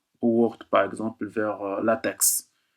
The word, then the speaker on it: LaTeX: Ou Word, par exemple, vers LaTeX. On l'appelle LaTeX, mais ça s'écrit LaTeX.